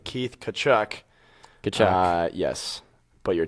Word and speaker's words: Tkachuk: the Coyotes had Keith cut cut can never pronounce his name keith tkachuk the cha yes but you're totally right tanner